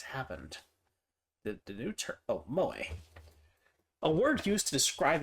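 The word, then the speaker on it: 萌え: Also can be used to refer to the culture of entertainment centered around characters who possess such traits, pronounced moe.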